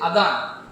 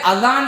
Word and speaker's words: அதான்: தால் உச்சரிப்பில் வரக்கூடிய அதான் என்கிற இந்த சொல் பாரசீக மொழியில் உள்ள ஒரு சொல் அரபியிலும் இது பயன்படுத்தப்படுகிறது.